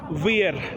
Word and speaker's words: wir: They are ich, du, wir, and the W-I-R is v, pronounced as a V, the W.